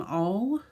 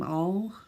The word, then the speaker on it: Auel: books by an author i believe you pronounce her name jean m all at least that's how i always say it jean m all gene all my mom